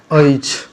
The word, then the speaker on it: अछि: पर पहले ये देख लीजिए, हमर नाम XYZ अछि, लिखा जाता है अच्छी पर इसका उच्चारण होता है ऐच, ठीक है, ऐच।